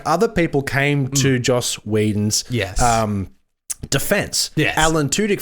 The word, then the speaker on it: Joss Whedon: for the listeners yep say his name slowly Joss Whedon thank you yeah no I just wanted to make sure people weren't thinking you were saying Josh probably my Lisp jo